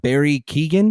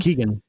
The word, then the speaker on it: Keoghan: Barry Keoghan. Yeah, Kogan. That's it, Keegan.